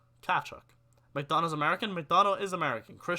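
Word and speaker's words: Tkachuk: It's pronounced Kachuk. Kachuk. Kachuk.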